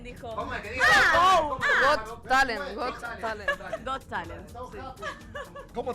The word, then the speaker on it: Got Talent: No, es GOT. Got, De tener talento. Go Talent, dijo. ¿Cómo es que diga? Got Talent, Got Talent.